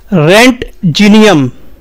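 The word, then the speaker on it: Roentgenium: मत लीजिएगा तो सही उच्चारण होगा रेंट जीनियम और यह बेसिकली जिस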